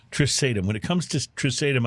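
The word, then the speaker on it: Trisaetum: Well, when it comes to this Pinot, which is called, how do you pronounce the name? Trisatum. Trisatum.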